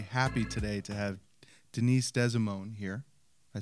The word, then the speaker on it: DeSimone: Well, you didn't really say it right, but it's okay. DeSimone, no? DeSimone. DeSimone. DeSimone.